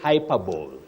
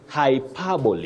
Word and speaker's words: hyperbole: or university level and please don't say hyper bow hyper bow for exaggeration or exaggeration avoid that you say hyperboy h hyperboy not hyperb you also say epitomy epitomy